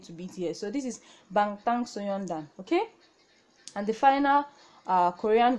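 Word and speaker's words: 방탄소년단: Now this is pronounced Bangtan Soyeondan.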